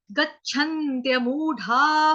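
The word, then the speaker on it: गच्छन्त्यमूढा: अगला, अगला line, last line जो है, गच्छन्त्यमूढ़ा पदम व्ययंतत, गच्छन्त्य, गच्छन्त्य, जैसे हम बोलते हैं ना, बुद्धम शरणम गच्छामि, गच्छ, गच्छ, तो झटके के साथ छ बोलना है आपको, गच्छन्त्य मूढ़ा।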